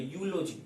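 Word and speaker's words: eulogy: यहाँ पर आप देखिएगा दोस्तों यूलोजी, ठीक है, देखिए मेरे उच्चारण को समझिए, अगर कोई आपको वर्ड दे रहा तो उसके उच्चारण को समझने का प्रयास करिए। दोस्तों गौर से देखिए, यहाँ पर आपका क्या है, यू ई है, ई क्या है, वॉवेल है। बहुत बच्चा क्या करेगा, एन लगा देगा, लेकिन अब जो बच्चा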